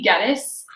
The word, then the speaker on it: Geddes: So my name's Geddes. I tell the kids it rhymes with lettuce, but most of them call me.